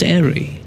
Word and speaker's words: Airey: The E is silent. Still pronounced Airey.